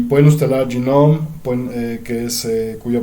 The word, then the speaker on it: GNOME: Y pueden instalar GNOME, cuya pronunciación correcta es GNOME.